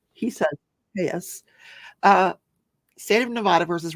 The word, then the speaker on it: Telles: the case of Robert tus I've been saying Tellis he saids tus uh state of Nevada versus Robert Tas for